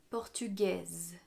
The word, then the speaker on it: portugaise: prononciation français françaises portugais portugaise le s à la fin donne un son quand il est au féminin les nationalités qui ont